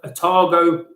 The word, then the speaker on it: Otago: it says further afield um i think it's pronounced otago otago peninsula in new zealand is pretty special